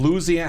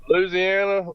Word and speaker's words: Louisiana: From Louisiana.